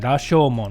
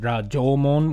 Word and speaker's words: Rashomon: may recognize that name, Rashomon, which I believe actually they pronounce it as Rajomon, which I won't get into the details, but it's basically the same thing.